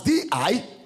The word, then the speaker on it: didache: Didache is spelled as D-I-D-A-C-H-E, didache.